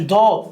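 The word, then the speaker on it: dough: وول حائط كلمه ها كلمه دو الجي اتش سايل ما بتنطقش دو هي العجينه فيتا تشيز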